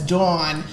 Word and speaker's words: Dawn: listeners, Dawn had to check me real quick. She has informed me that her name is Dawn, not Dawn, as I've been calling her on every episode.